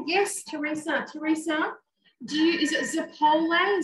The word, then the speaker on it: zeppole: Teresa, is it Zappole? Zappoli? I'm not sure if I'm pronouncing it right. Basically, it's deep fried choux pastry, Italian donuts. Zeppole. Zeppole, there you go, the correct pronunciation.